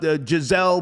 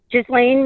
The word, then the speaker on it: Ghislaine: Ronnie, what's Giselle Maxwell? How do you say her first name? Epstein's. What's that? Ghislaine Maxwell.